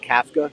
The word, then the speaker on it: Kafka: It's actually pronounced Kafka, and he's calling plays.